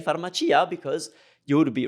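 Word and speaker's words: farmacia: you that accept it yes usually we pronounce CIA as cha but if you come across a word and you are positive that it's Chia then that's how it is just say pharmacea because you would be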